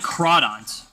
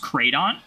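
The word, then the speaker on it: Crawdaunt: Like Crawdont. Crawdont's based off of a crayfish. Do you want to know how they spell crayfish? C-R-A-W. Begs the question. Is Crawdont actually supposed to be pronounced Cradont?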